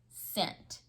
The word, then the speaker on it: scent: you spell scent scent it has a soft c at the beginning it sounds like it may start with an s but it's really a c that makes that sound scent so here's one cent